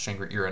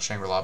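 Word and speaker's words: Shangri-Ira: So for the extra deck, we're playing two copies of, it's actually pronounced Shangri-Era, not Shangri-La, but yeah, Shangri-Era card's busted.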